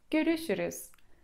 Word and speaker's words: görüşürüz: To jest słowo dość trudne, bo zawiera zarówno się, jak i umlauty. Więc na zadanie domowe poćwiczcie. Poćwiczcie sobie wymowę tego słowa, a jest to słowo görüşürüz.